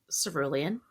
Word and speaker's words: Cerulean: And today we will be discussing and reviewing The House in the Cerulean Sea by TJ Klune. That's how you say it, Cerulean, right?